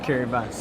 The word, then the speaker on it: Kiribati: It's pronounced Kiribati. Kiribati, yeah. Sorry, thank you. Fine, no. I think one person out of 20 has got it right.